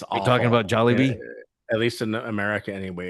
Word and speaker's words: Jollibee: I say at the very end, it's going to be better than Jolly Billy. Jolly Billy's. Jolly Bill? Billies? What is it called again? Jolly Bee is Are you awful. talking about Jollibee?